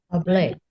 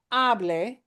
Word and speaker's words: hablé: Hablé. Hablé. Hablé. Hablé. And not hable, that means something else, but hablé. Okay, hablé.